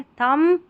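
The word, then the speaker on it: thumb: थंब थंब म पे ही रुक रहा है। बी साइलेंट है। अगर बी तक बोलेंगे थंब ब गलत हो जाएगा उच्चारण।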